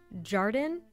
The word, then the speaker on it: jardin: It's also our very butchered pronunciation of the French word jardin, jardine, jardin.